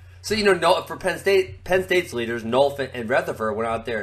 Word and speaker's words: Nolf: State's leaders did, who I would say is Nelf and Rutherford. Nelf. That's almost as bad as Jaden. Actually, Jaden is a proper pronunciation. Oh God. So for Penn State's leaders, Nolf and Rutherford went out there and freaking hammer smashed some people.